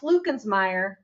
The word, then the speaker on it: Luckensmeyer: It's pronounced Lucansme, but it's spelled Lensmire.